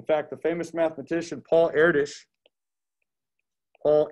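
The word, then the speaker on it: Erdős: the famous mathematician paul erdis paul heir dish check out this last name you pronounce that air dish paul erdish was uh he's one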